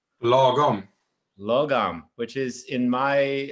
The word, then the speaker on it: lagom: There's a beautiful Swedish word, Josef, correct me if I'm wrong on the pronunciation, but I think it's logom. Lagom.